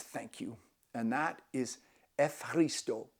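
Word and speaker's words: Ευχαριστώ: And that is Efharisto, Efharisto. It's a hard one because it's not Efharisto, it's Efharisto.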